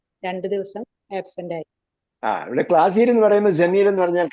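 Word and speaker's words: قلم: ഭാഷ പറയുമ്പോൾ പാലിച്ചില്ലെങ്കിൽ കുഴപ്പമില്ല കലം എന്നുള്ളത് ഗലം എന്ന് പറയാം അലം എന്ന് പറയാം കലം എന്നത് ഒറിജിനൽ ഉച്ചാരണമാണ് ഗലം എന്ന് സൗദികൾ പറയും അലം എന്ന് ഈജിപ്റ്റ് ആയിട്ട് പറയും അതിലൊന്നും കുഴപ്പമില്ല പക്ഷേ തജ്വീൽ വരുമ്പോൾ ഫുൾ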